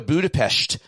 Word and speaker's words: Budapest: Let's go to Budapestt. That's how you say it. Peshed like sh.